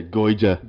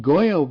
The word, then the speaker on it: Goyo: Oh, another thing that really annoys me is when he says the card's name wrong. Yeah, Goida.